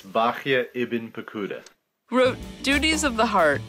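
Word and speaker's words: Bahya ibn Paquda: was very tamic and Rabbi bah pada that's Bak iben pakuda wrote duties of the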